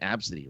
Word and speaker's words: Abcde: And there's that one famous name, Absidy, right? Absidy, ABCDE. Yep.